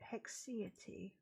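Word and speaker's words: haecceity: Etymology, it's pronounced... Oh, Hexiety. Oh, that's how you say it. Hexiety.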